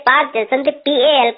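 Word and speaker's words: Palk: के नाम से और यह पाक जलसंधि पाकिस्तान वाला नहीं है ये पाक को हम बात कहते हैं ठीक है ना इसमें साइलेंट होता है यह रेखा 1914 में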